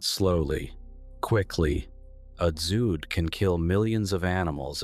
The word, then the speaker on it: dzud: The dzud, pronounced "dzud", is a specific Mongolian weather phenomenon with no direct translation in English.